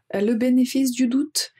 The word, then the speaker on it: le bénéfice du doute: Tout d'abord, pratiquer la prononciation, le bénéfice du doute. Le bénéfice du doute. Donc il y a u ou U ou. Ça, il faut pratiquer.